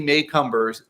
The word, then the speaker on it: Macomber: we have Debbie maycumber I always said her name wrong but it's Debbie maycumber joyful M Miracle oh